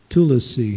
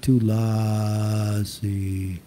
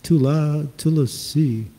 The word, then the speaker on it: Tulasi: Tulasi. The emphasis is on the last syllable, not on the A.